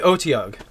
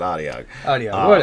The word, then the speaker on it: Otyugh: going to call us we'll go with the OT ugh I'm hottie ugh I pronounce it audio audio however you like to pronounce it I've seen on that's